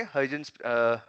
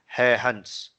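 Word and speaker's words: Huygens: तो हम कल करेंगे हाइजेंस, एक्चुअली हाइजेंस प्रिंसिपल लिखते तो है HUIGENS, उसको actually हाइजेंस that's not the real pronunciation, वो एक नेदरलैंड्स के साइंटिस्ट थे क्रिश्चियन हैहन, उसको ऐसे प्रोनाउंस करते हैं तो हैहन करते हैं, HUIGEN इज डेनमार्क का जो सॉरी नेदरलैंड का लैंग्वेज है डच, उसमें जो प्रोनाउंसिएशन होता है वर्ड का वो होता है हैहंस, हैहंस ऐसे बोलते हैं उसको।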